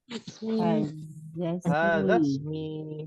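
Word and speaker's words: هذا اسمي: I-nya itu hamzah wasal. Ismun. Ya. Kalau bersambung, ini nggak ada harokatnya. Ya. Berarti kalau ketemu dengan hadza jadi apa? Hadzasmi. Ya. Silakan. Ini cara bacanya ya.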